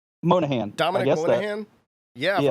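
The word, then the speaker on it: Monaghan: And this last one, this one's going to be hard to pronounce. Oh, it's just Carlos Santana. It's Dominique Morgan Monahan. Oh, Moynihan? Monahan.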